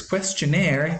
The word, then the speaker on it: questionnaire: Questionnaire is normally accented on the last syllable. That's probably because it's a French word.